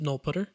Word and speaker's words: nullptr: the concept of a null pointer this constant is called null pointer or sometimes people will pronounce it null put ur and to nullify a